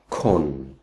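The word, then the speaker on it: คน: one it is but a rule of thumb is that if it's a single syllable word it's usually an O if it's the first syllable in a two- syllable word then is a otherwise it's O So this word being just one syllable is Con and that means person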